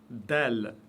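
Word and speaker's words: دال: Del, toujours légère, aucune exception. C'est le D de la langue française prononcé légèrement. Del, da. Et non pas da.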